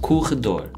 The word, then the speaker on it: corredor: Corredor.